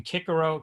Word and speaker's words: Cicero: course Cicero Marcus Talia Cicero pronounced in Latin kikaru Cicero means uh chickpea